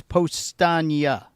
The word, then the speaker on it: Powstanie: somebody How is the What's the proper pronunciation? Is it It's postnaga.